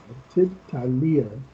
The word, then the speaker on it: التالية: And this is ta is haruf e shamsi. So we have to join this ta with this ta. Alif lam is silent here. Ajib anil asilatit talia. Tit talia. Talia.